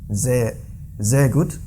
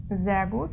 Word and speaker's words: sehr gut: And then sehr gut. Sehr gut. Sehr gut, yeah. not sehr gut. Yeah, very good. Sehr gut. Because that's the rule in German pronunciation, so it must be like this, the buzzing.